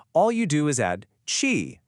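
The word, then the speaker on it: czy: Now, chi, pronounced kind of like chi, is such a cool little word.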